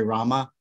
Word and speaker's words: Rama: or two devotees that they should chant Rama when they chant Hari Rama because it is the third it is a 32 syllable mantra and if you drop the a which any any short a can be dropped but in the Mantra it'll cut the Mantra short so rabba did instruct